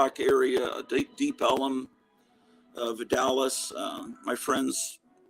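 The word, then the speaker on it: Deep Ellum: Chicago say kids anyway Elm Street became Elum Street and deep Elum Street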